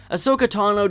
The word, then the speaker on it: Ahsoka Tano: Ahsoka Tano didn't start out as a fan favorite, and misspelling her name was like rubbing dirt in the wound. Her name is pronounced Ahsoka Tano, and spelled A-H-S-O-K-A-T-A-N-O.